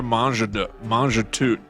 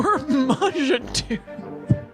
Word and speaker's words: Mangetout: Mangetout. Monsieur Mangetout. I'm pretty sure you don't pronounce the last T.